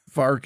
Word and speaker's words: Fork: Yeah, by many Utahns, Fark is closer to how it's pronounced.